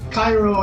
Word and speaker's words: Cairo: it on the page Cairo is expelled cair oh it's spelled k ay y ro and the bird says